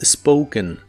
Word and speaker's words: spoken: En el pasado participio es spoken. Al igual que en el pasado, la O se pronuncia como OU, pero en este caso al final lleva una N, así que ahora sí se pronuncia la E.